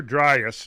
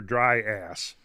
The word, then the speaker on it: Dryas: like i say it's it's younger driest not younger dry ass yeah okay so i'm